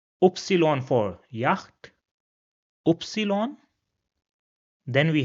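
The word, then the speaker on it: Ypsilon: The next character is pronounced as oopsilon. Oopsilon for yak.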